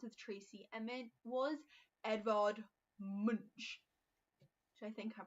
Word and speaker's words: Munch: And Monk, I believe is the correct pronunciation, Edvard Munch and Tennyson.